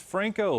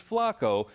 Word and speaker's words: Franco: mean president obama sorry this mispronunciation alluding to president obama mistakenly pronouncing james franco's last name as james flacco in recent statements about